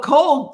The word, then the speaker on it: Kohl: It's spelled Kohl. But sometimes I say Coco, so people think it's Coco. So, but Cole, Coal, works because I named her